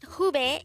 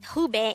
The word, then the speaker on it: 후배: word number 173 pube this is pronounced as a two-syllable word the first syllable is who the second syllable is pronounce it with me the word hubei is the opposite of